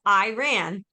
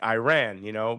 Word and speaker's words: Iran: I mean, the English language, we have hard I sound in our, pronunciation of words. So it comes natural that you would see Iran and make it Iran, but I always thought